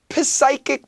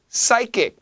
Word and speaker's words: psychic: 자, once again, psychic 말고요. Psychic, P는 묵음이에요. Psychic, psychic, psychic.